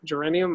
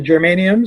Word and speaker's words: germanium: that try that big transistor you showed me geranium I always mispronounce it well the germanium selenium yeah get anywhere with us no I